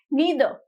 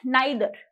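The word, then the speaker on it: neither: Next one इज नीदर, नीदर, और द pronunciation could be नाइदर। नीदर मतलब ना ही, दोनों में से कोई भी नहीं। सो इट इज नीदर और नाइदर। द pronunciation differentiates on द basis of US English और UK इंग्लिश।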